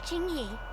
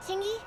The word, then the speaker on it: Qingyi: I'm public security officer Ching y Ching may I know the specific request you have for public security community service the Q is silent chyy chy sh hold on for a